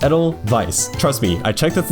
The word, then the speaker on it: Edelweiss: Yes, it is pronounced Edelweiss, not Edelweiss.